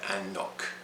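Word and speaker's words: anCnoc: with another one nokando they changed it to and knock and knock so just knock there so we've got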